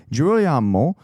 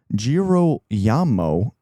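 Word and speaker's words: Girolamo: Jirroyamo, Jirro Yamamo, I think is how you pronounce it, carried himself with all the ostentation of someone only recently vaulted into the first ranks of society.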